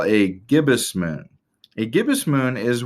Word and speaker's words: gibbous: that is a weird sciency word that is pronounced gibbous a gibbous moon as the moon continues eventually